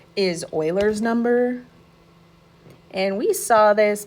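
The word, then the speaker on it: Euler: You're going to see this name and you're going to want to call it Uler, but it's pronounced Oiler.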